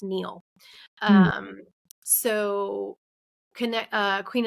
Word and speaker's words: Nile: which by the way Nile is actually pronounced Neil um so connect uh